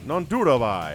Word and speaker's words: Nanduribhai: Nanduribhai. How about that? Nanduribhai. Man, 4 syllables is a lot.